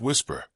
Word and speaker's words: WSPR: His idea centered on a technology called Whisper, Weak Signal Propagation Reporter, pronounced Whisper.